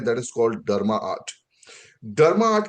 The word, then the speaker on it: DrMaArt: डर्मा आर्ट का मतलब है जहां पे स्पेलिंग आप देख रहे हो डी आर ए एम ए आर T that is called डर्मा आर्ट।